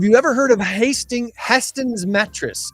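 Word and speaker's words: Hästens: a Swedish company so the a has two dots above it how do you pronounce that h h h yeah I said probably H like sa well same thing as Saab so yeah um host's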